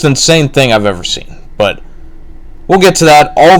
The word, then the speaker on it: Bea: just on the pre-show, but whatever. Bea Priestley, and I guess her name is pronounced B and not Bea, so I've been pronouncing that wrong the whole time.